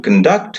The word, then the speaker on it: conduct: to conduct a program so you see the stress in the world has shifted to the second syllable so all these words are Dai syllabic words two syllables are here and you see how the stress works in a noun it's in the first syllable in the verb it is a second syllable that is a general